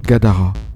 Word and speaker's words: Gadara: Quelque chose comme Gadara, avec l'accent sur la deuxième syllabe.